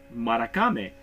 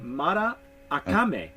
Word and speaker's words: Maracame: I'm looking at this I was pronouncing this in the Spanish Morocco me but on the back I was corrected because it's actually Matta I coming and it is let's